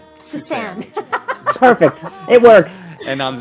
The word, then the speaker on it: Susanne: Well, it's because her Suzanne is not spelled with a Z, it's spelled with an S. S-U-S-A-N-N-E. So I'll just call you Suzanne. Suzanne.